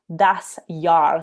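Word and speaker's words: Das Jahr: for each month by fanny that is called das yar so it's spelled d-a-s-j-a-h-r and it means the year i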